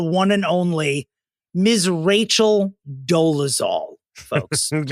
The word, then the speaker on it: Dolezal: It's been 11 years that Rachel and actually the pronunciation I believe is Dolezal.